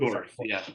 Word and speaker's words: Dorf: So again, listeners, as Matthew said, and Shell, how do you pronounce his last name? Dorf, Dorf.